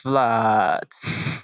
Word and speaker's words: Vlad: prefer if you pronounce Vlad yes okay so it's a Dutch way it's a Dutch way